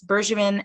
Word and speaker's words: Bergevin: bergevin lane vineyards and that's bergevin as in soft g not hard i've actually had to